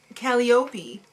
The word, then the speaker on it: Calliope: No, it's Calliope. Oh. The real name is Calliope, but I think she has the emphasis on the wrong syllable.